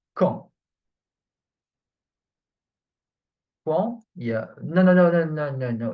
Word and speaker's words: quand: Actually, that's what I write K-A-N, but it's not pronounced can. Okay. No, it's not ka either. It's quand. So I didn't find how to write this on sound.